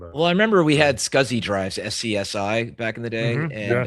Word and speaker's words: SCSI: drive, but there were people in Silicon Valley that were trying to say it should be pronounced sexy.